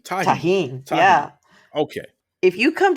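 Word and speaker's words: Tajín: How do you pronounce? What is the name of the seasoning? It's Tarjan? What do you call that? Tajin. Tajin.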